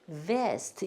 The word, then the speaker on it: vest: vest. 요거는 조끼고, 그러니까 우리 발음 정확하게 구분해서 하셔야 돼요.